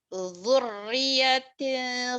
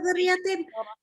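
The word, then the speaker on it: ذُرِّيَّةٍ: Dzurriyyatin Bukan zuriyatin.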